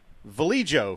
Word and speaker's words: Vallejo: say we were open vallejo Valley Joe for those who don't know how to say it which is the same